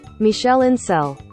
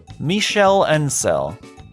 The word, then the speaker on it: Michel Ancel: How do you actually pronounce that? I've always just kind of assumed. Michel Ancel. Michel Ancel.